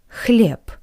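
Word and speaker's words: хлеб: this group is bread clip clip not but clip PP because the voice consonant b b is at the end of this word that's why it's read like the voiceless consonant PP bread clip next word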